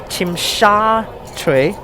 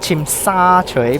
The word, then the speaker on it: Tsim Sha Tsui: It should be Tsim Sha Tsui, not Tsim Sha Tsui, because it's SHA, not SA.